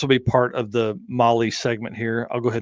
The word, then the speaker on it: Mahle: And for all the folks that are listening to this, Molly is spelled Mahle.